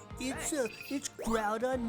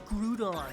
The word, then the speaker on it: Groudon: It's like, oh, it's Groudon? No, it's not, it's Groudon.